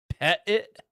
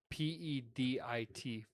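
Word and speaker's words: pedit5: Pet it? Pettit. That was not it. That's Like two. pet it, 2 words? Like PEDIT 5.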